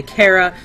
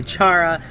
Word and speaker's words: Chara: some people say Kara some people say Chara I say Shara and here's my reason why if you come across someone by the name of Charlene their name is spelled with a CH so to me the name Chara just looks like Shara Oh Shara Shara Shara is